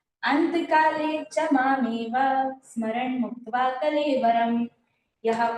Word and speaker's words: अन्तकाले: हो ठीक है और सुनना है साथ में अंतकाले चमामेवा स्मरण मुक्तवा कलेवरम यह प्रयाति सम भावम याति नासत्र संशय।